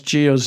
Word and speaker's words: Gio: They can't even pronounce Gio's name right or spell it right. They said Gia like it's a girl, not Gio.